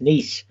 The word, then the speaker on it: Nice: is this is from it says nice in English but really in the French is pronounced nice and when we went